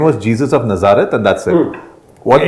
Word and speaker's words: Nazareth: the whole Christ thing he said Nazar not from there it's a proper noun we were curious Nazareth yes Nazareth now what they said